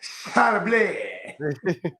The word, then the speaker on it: Charbonnet: And pronounced Charbonnet.